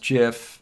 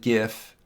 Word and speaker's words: GIF: file again it's pronounced jiff i know there are a lot of people that still pronounce it gif but the creator this guy steve wilhite who created the gif pronounces it jif so as an homage